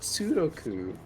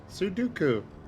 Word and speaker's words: Sudoku: He said Sudoku. Not Sudoku. Sudoku. Yeah, that's how you say it.